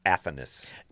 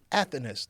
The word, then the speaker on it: Athanas: How do you pronounce that last name again? Athanas. Athanas.